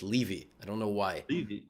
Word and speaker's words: Levy: Yeah, and I also had to deal with in English, Levy is a last name. So my name is a last name, and it's pronounced Levy.